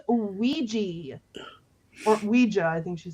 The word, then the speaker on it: Ouija: And then the classic, is that a hoo-haul board? It's pronounced Ouija.